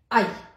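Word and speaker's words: Ä: दिए, उमलाउट लगा दिया, तो इसका उच्चारण हमारा हो गया आई।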